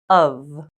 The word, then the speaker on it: of: one strange exception is this word it is pronounced of remember these are only some of the possible